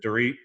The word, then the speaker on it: Dorit: Is it Dorit? Dorit, WALLACH. So DORIT. Mm-hmm. And Dorit's last name is how do you pronounce it?